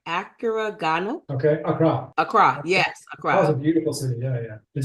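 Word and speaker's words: Accra: I went to let me make sure I pronounced it right Acura okay Acra Acra yes Acra beautiful city yeah yeah did you did you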